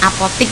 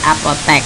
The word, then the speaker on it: apotek: Mungkin jika diucapkan kita sering mendengar sebutan apotik ya, apotik. Padahal untuk kata bakunya itu penulisannya menggunakan huruf E bukan huruf I, apotek.